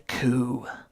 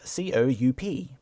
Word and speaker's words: coup: Does he think to raise a coup? Coup is spelt C-O-U-P, but the P is silent.